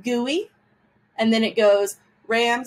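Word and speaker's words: guli: few times and then we have gui this is pronounced gui and then it goes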